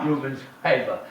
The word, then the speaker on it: Rubens Paiva: Rubens Paiva.